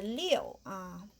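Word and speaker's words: 六: If we know the English, this is love. We need this. And the liu, maybe just pronounce it just like this.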